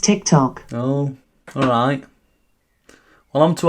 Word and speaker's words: TikTok: A tic-tac? Alexa, what's a tic-tac? It's pronounced TikTok.